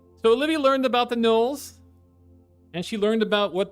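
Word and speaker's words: Gnoll: And Knoll, the G is silent.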